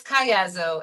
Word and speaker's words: Caiazzo: So it's Caiazzo, and it's no problem.